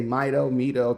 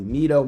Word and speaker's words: Mido: But Mido actually have been using this particular TV style case since the 70s.